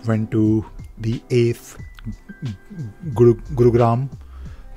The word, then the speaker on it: Gurugram: to the eighth group gurugram I'm still trying to pronounce this name because I'm used to say gurgaon but gurugram gurugram yes and NCR basically meet